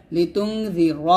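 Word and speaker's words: لتنذر: এইগুলো করা যাবে না লিতুনজিরা বলবেন রটাকে মোটা করে উচ্চারণ করবেন লিতুনজিরা কওমান মা কওমাম গুণ হবে মাম মা মাতে তিন টান দিবেন লিতুনজিরা কওমান মা উনজিরা উনজিরা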